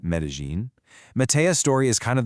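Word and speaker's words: Medellín: That's pronounced Medellin.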